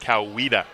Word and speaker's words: Coweta: I was told it's pronounced Coweta.